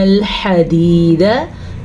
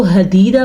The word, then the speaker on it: الْحَدِيدَ: وَأَنزَلْنَا الْحَدِيدَ، ہا کے تلفظ کا خاص خیال رکھنا ہے. اگر کوئی اس کو حدیدہ پڑھے گا تو وہ غلطی کرے گا اور اگر کوئی اس کو خدیدہ پڑھے گا تو وہ بھی غلطی کرے گا.